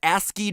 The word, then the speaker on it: ASCII: turned out to be ASC III codes for different letters of the alphabet for those of you who don't know ASC III codes or ASCII codes as it's properly pronounced the cringe is so